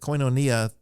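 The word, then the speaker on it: koinonia: order but uh so we use the erasmian pronunciation system which was actually developed in the 15th century try to be consistent with coinonia that's the way I would say it there's a couple of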